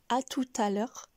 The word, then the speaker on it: à tout à l'heure: Ici, le T final, donc la dernière lettre, ne se prononce pas tout le temps. Mais dans cette expression du jour, à tout à l'heure, vous pouvez remarquer qu'on la prononce.